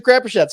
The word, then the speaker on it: Crapuchettes: It's Crapuchettes.